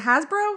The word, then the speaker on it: Hasbro: And meaning at a time only is it Hasbro? How do you say that? Hasbro, yep.